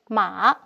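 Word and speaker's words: 马: We may take a look at the changes of the physical structures of this Chinese character, Ma, meaning horse, pronounced as Ma.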